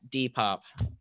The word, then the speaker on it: Depop: this one was fun your random reminder that depop is pronounced d-pop you know that's something you